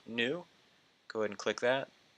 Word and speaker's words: GNU: know that's build GNU it's pronounced new go ahead and click